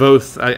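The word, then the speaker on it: Kvothe: Kvoth, because I know it's supposed to be like Quoth, but with a V.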